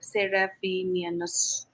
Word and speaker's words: Seraphinianus: I mean, that's where I found the word Seraphinianus, Yes, yeah. if I'm That's pronouncing it right.